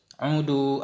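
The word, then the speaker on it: عُودُوا: Udu al-maridah. Jenguk olehmu akan orang sakit. Bidhammil aini wad dali bainahuma. Dengan dhammah in dan dhammah dal antara keduanya.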